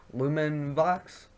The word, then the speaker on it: LumenVox: you guys this voice this website is called lumen box public that's how you pronounce it here's the link right here I'll